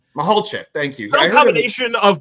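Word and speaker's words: Michalczik: So I want to see what, you know, a new philosophy with a veteran offensive line coach in Jim Mihalik. I'm going to butcher the pronunciation. Mihalchek, thank you.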